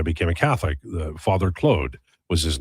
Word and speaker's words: Claude: Uh well, um I pronounce it Clode because Claude Larose was a player in the NHL when I was a kid and that's how Danny Gallivan said it.